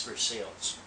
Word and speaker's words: Versailles: they did a lot of the filming in Versailles I think and yes I am pronouncing it correctly in Kentucky it's for sales so I'm getting off track I was a